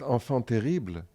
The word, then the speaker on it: enfant terrible: You meant enfant terrible. Enfant terrible. Yes. Oh my That's what I say. Just kidding. He pronounced it wrong.